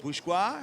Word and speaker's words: Bourgeois: And Gurien and Bourgeois, is that how I pronounce it? Bourgeois. Bourgeois. Yep, that's Bourgeois, good. it's French, of course.